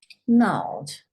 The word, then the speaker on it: gnarled: So when you write it, you write the G and the N, but you don't say the G sound because that one, remember, is silent.